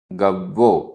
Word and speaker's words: गव्वो: गव्वो, आधा वा पूरा वा।